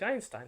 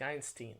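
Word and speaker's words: Einstein: И Айнстайн может быть Айнстайн, а может быть Айнстин, а может быть, не знаю, там, Айнштайн.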